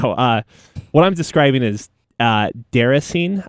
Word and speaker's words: Déraciné: What I'm describing is Deracine, I think is how you pronounce it. It's a French word, if I'm not mistaken.